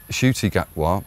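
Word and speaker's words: Ncuti Gatwa: What happened was that Shuti Gatwa, whose name is spelt Nakuti Gatwa, but I'm going to be referring to him as Fruity Gatwa.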